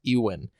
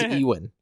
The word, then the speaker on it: Ewan: Sleep, Kenobi actor Ewan, I just realized his name is pronounced Ewan. I always thought it was Ewan. Really? It's Ewan McGregor.